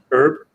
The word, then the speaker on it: herb: a dried herb or herb herb herb character sorry silent h um hey yep quick